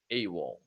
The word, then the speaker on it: AWOL: This one is pronounced as a word. AWOL.